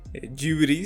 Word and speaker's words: Ghibli: Pues ese estudio que todos sabes, estudio Ghibli, Ghibli se pronunciaría en japonés, y básicamente en el